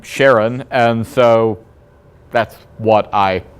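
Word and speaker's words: Charon: moon and that moon was named was named sharon or sometimes you will hear care on it is the naming is rather interesting and the pronunciation is something that we debate because his wife was Sharon karen is the proper pronunciation of the mythological figure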